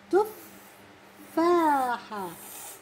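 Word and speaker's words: تفّاحة: تفاحة. وين بحطها؟ على التاء ولا على الحاء ولا على الفاء؟ تفاحة. أها إذا على أي حرف؟ على الفاء.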